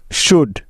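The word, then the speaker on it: should: silent হয়ে যাবে যেমন ডি এর আগে এল সাইলেন্ট এর উদাহরণ যেমন কুড সি ও ইউ এল ডি কুড সুড এস এইচ ও ইউ এল ডি সুড উড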